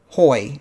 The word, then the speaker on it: hoy: yes we couldn't so whenever spanish word starts off with an h the h is silent boy yep there you